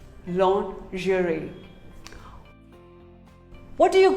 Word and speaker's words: lingerie: mispronounced word lingerie well most of us call it lingerie no it is not lingerie it is actually called lingerie say lingerie long jury what do you call